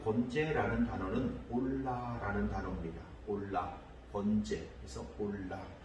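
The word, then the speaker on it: עֹלָה: 그 말씀에 보면 이제 번제라는 단어가 3절에 나오는데 그 번제라는 단어는 올라라는 단어입니다. 올라, 번제, 그래서 올라. 이 올라라고 하는 발음을 할 수 있는 이 단어는 그냥 번제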